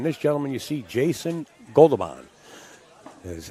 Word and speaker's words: Goberdhan: He goes under Joe Wilson Torres, okay, and he's going to be playing this gentleman you see, Jason Goberdhan, is how he pronounces his name.